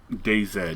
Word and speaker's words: DayZ: Daisy. It sounds very vulgar. Daisy. Okay. The one Americans pronounce wrong. DayZ.